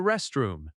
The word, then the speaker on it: restroom: Another common request is, "May I use the restroom?" May I use often links and sounds like my-eye-use. Restroom has stress on rest. Rest room.